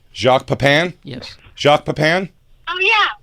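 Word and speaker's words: Jacques Pépin: Kell, are you are you familiar with Jacques Pain? You already said it wrong. Jacques Papan.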